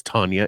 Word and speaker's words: Tanya: herself to us saying my name is Tanya it rhymes with lasagna if you call me